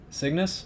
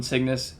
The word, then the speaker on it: Cygnus: Cygnus?